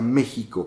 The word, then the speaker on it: México: de la x acuérdense Cómo se pronuncia México con x con j bueno el prójimo es